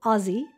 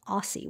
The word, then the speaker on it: Aussie: this is from Australia so Aussie definitely being the right word and not Aussie which I was pronouncing it before so Aussie Red Gold